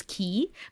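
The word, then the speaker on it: quay: you know what's funny this is the word that I would confuse with the word key do you know the word key this Q UA oh my God help me spell it a y something like that like which is by the water this is something you have by the water q u a y this is key but you are talking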